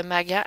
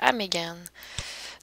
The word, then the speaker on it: Megan: donc mon nom aussi on est passé de maga mégane donc voilà mes deux